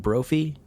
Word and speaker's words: Brophy: edward broffy timothy q mouse and i say brothy b-r-o-p-h-y right brother or brophy edward brophy ooh actually brophy might be better that that